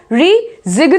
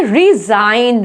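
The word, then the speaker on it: resign: इसमें भी देखो रिजिग्न बोलेंगे क्या? No, that will be wrong, इसको क्या बोलेंगे? रिजाइन, रिजाइन। नेक्स्ट, नार्ल।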